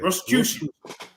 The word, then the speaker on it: Rosicrucians: So the roster, what you call them, the Rosicrucians? Am I pronouncing it right? Yeah. Rosicrucians.